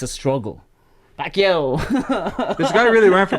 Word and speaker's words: Pacquiao: But the reason why in every fight or Pacquiao's fight, if you listen, they elongate the Pacquiao pronunciation because Americans cannot say Pacquiao or Pacquiao.